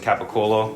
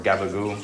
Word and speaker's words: capicola: We're also gonna put some capicola or gabagoo, if you are weird and are from New York and say it like that.